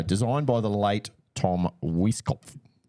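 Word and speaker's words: Weiskopf: Uh, designed by the late Tom Wiskoff. Sorry. Sorry. Whiskoff. There's a P and an F next to each other. So, Whiskoff.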